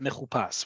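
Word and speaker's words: מחופש: That vav that's added, but no nikud are added, indicates to pronounce it mechupas.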